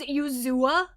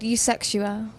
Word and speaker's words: Eusexua: Fucking look at the word. Sound it out. It's definitely not Yuzua or whatever Darren said.